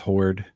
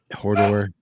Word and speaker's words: Horde: That's how I pronounce it. It's just Horde, and it was teased. Yeah, Hodor.